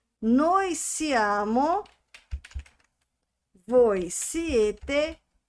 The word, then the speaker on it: siete: Atenção, um outro detalhe aqui. Aqui, ó, siete, tá? Então, quando a palavra terminar com e, pronuncie o e. Quando ela terminar com o i, pronuncie o i.